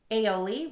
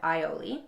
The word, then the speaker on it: aioli: Okay, I'll end this quick rant review with 3 words in the audiobook that were mispronounced. Instead of misogynist, we had misogynist. Aioli, we had aioli.